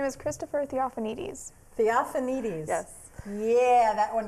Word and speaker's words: Theophanides: I was going to say I can't really pronounce it very well, but What say is it again. His name is Christopher Theophanides.